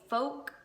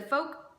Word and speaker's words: folk: So just check the website, and this is called a folk, if you're my older brother who likes to really pronounce that L in like yolk and folk. This is the folk pocket notebook, and these will run you $10.